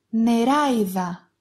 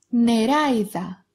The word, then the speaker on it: νεράιδα: Maybe you're thinking that this letter looks like alpha iota as an e sound, but they're different. You can recognize this diphthong because of the stress mark in the first vowel.